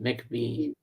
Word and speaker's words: McVie: Christine McVie is pronounced it McVie. Thank you. Pardon, McVie.